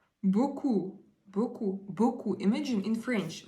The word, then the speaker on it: beaucoup: Beaucoup, beaucoup, beaucoup. Imagine in French, like beaucoup, beaucoup. Merci beaucoup, beaucoup. It's like thanks a lot, a lot. So how we pronounce it? Beaucoup, beaucoup, like 4 letters.